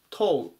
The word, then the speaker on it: toe: 伸ばさないでトウっていうふうに発音します。